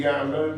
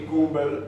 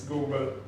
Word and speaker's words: Gumbel: the pronunciation wouldn't be Gamble, but would be Gumbel, like we say in Italian.